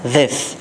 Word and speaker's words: this: और अगले वर्ड की तरफ देखेंगे हम, दिस के अंदर हम आमतौर पर इसको इंडियंस इसको धिस बोलते हैं, धिस, नो दिस इज़ not that actual, असल प्रोनाउंसिएशन निकलता है उसका दिस।